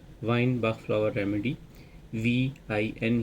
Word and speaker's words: Vine: VIN ही इसको pronunciate करते हैं और ये एक फूल से जो है वो तैयार की जाती है।